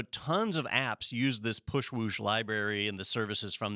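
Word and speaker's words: Pushwoosh: Is there was a app service called Push Swoop, or Swoop Whoosh. Push Whoosh. Push Whoosh. There we go. I got the name wrong.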